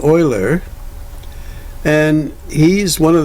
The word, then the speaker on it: Euler: there's a picture of a Oiler again I would pronounce that uler I don't care how you pronounce it but uh that's what I've heard Oiler now arguments with universal